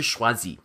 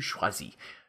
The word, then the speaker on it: choisis: Okay, je choisis. You're going to drop that R at the end and you're going to add an S, but you're not going to pronounce that S.